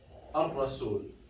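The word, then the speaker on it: الرسول: Al-rasul. You see, I did not say al-rasul, I said al-rasul. I did not pronounce the lam.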